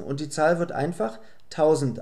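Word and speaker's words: hundert: Die Buchstaben ER werden einfach wie ein A ausgesprochen. Es heißt daher einfach 100.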